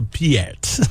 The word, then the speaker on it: Peart: Or I guess it's not Pert, and they're talking to him about his name. Chill, man. Look, guys, it's been a long night. Oh, Sid, I told you not to eat Mr. Pay-urt's sandwich. It's just Pert.